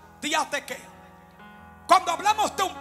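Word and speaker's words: διαθήκη: hebreo se pronuncia verit y en griego se pronuncia días de qué cuando hablamos de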